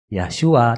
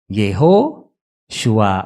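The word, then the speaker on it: יהושע: Jadi sebenarnya Yahshua itu sebenarnya kalau Yod He Waw Shin Ayin itu dibacanya bukan Yahshua tapi apa tadi? Yehoshua atau dalam bahasa Inggris Joshua ya.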